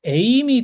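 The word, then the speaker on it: εἶμι: 이제 2인칭 명령법으로 뭐 에이미 동사입니다. 이거 사실 ST 동사의 그 1인칭 단수형 에이미 동사랑 발음은 똑같지만 악센트가 다릅니다. 그거는 에이미 이렇게 되고 이거는 에이미이기 때문에 악센트가 달라요.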